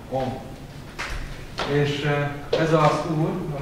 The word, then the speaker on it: Om: Akára, ukára, makára, három hangol áll, és kiejtve akkor Om.